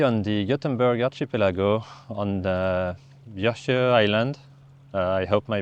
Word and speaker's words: Björkö: And I've came across some locals who told me the correct pronunciation of the name of this island. So, it's called actually Björkö, not like I was saying.